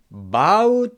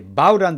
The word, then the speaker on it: bow: 여기서는 절하는 거니까 바우를 읽으셔야 돼요.